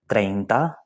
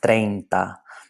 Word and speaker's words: treinta: First off, well, here we've got the number 30, treinta. Do we have a diphthong here? Yes, we do indeed. That E and that I form a diphthong, treinta. So it blends one into the next.